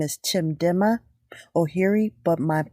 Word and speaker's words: Chimdimma: my name is chip my full name is chim dimmer Oh here II but my short easy name to pronounce okay can you tell us I'm